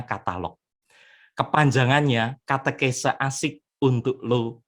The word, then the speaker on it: Katalogue: Katalog kalau ditulis itu katalog gue, tetapi membacanya katalog.